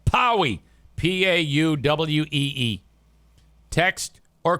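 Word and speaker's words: Pauwee: Powie. P-A-U-W-E-E. Text or call Eric Powie at Oakland Auto Detail.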